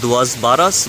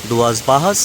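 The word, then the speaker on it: Duas Barras: That's दुआस बारस बट it's pronounced एज दुआस बाहस।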